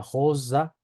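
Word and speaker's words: rosa: La R se pronuncia como una J, con la punta de la lengua en la parte baja de los dientes inferiores posteriores. ¿Sí? Por ejemplo, tenemos la palabra josa, josa, ¿sí?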